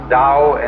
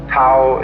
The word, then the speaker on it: Tao: called the Dao t-a-o pronounced Dao in the Mandarin dialect Tau in the changhai dialect